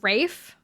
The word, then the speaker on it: Ralph: It's Ralph, pronounced Rafe.